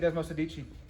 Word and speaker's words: Desmosedici: you say dan how do you say it does masadichi all right there you go this one's getting